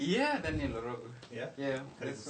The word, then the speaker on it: Daniel Orogo: Yeah, Daniel Orogo.